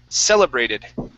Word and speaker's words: celebrated: Okay, stress at the very beginning of the word, celebrated.